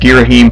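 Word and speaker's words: Ghirahim: It's pronounced Girahim, people.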